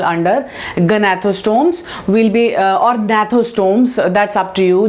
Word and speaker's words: Gnathostomes: Will be or Gnathostomes, that's up to you. G is silent here, Gnathostomes.